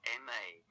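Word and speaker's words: 吗: in a later lesson the neutral tone is short without a full tone contour and is pronounced more softly than words with full tones also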